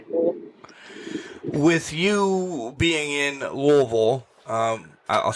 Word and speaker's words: Louisville: with you being in Louisville, I'll say it correctly now that I've been there.